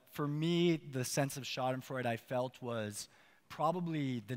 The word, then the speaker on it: Schadenfreude: I guess this is a German word right schadenfreude and I pronounced it right I looked at that word so schadenfreude that's a great word you know I have